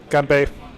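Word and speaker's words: 干杯: He's trying to say cheers in uh Chinese, but that's not how you say it. But you're close. It's actually ge. It's G A N B Ei. Close. G uh G A N B E I GB.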